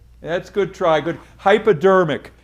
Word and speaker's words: hypodermic: the skin pastor ammed uh I think it's pronounced hyper that's good try good hypodermic hypodermic is what it's called yeah try again red